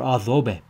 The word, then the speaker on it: adobe: is an example of adobe architecture, adobe. So the D is pronounced like a TH, adobe. And it is a word that originates in Arabic that was picked up by the Spanish.